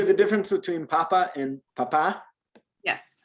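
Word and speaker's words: papá: And the difference is with this little accent mark that's over the A. Naturally, Spanish accents the second to last syllable in a word, unless it has the accent mark on it, and that just teaches you to shift the emphasis when you're saying something, right?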